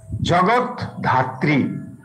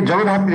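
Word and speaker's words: জগদ্ধাত্রী: জগৎ ধাত্রী রূপের মানে জগৎ ধাত্রী অনেকে এই শব্দটাকে জগধাত্রী বলে জগধাত্রী না জগৎ ধাত্রী ধ এর উপরে দয় ধ আছে এখানে জগধাত্রী জগধাত্রী জগন্নাথ জগন্নাথ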